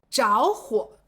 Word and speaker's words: 着: 最常用的是着火，意思就是发生火灾了，正在燃烧呢。